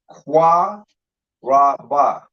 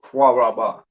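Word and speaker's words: קרב: So when you connect it, you lose the A. You don't pronounce it Qua Ra Ba.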